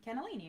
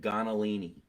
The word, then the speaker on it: cannellini: really good olive oil what is the correct pronunciation of that Bean quinoa no the bean oh cannellini beans cannellini right my mother always said gonnellini oh the accent maybe maybe that's the uh